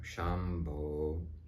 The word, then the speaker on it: Shambho: I've taken it up Shambo because that's how you emanate the sound it's a Bo sound when it's done properly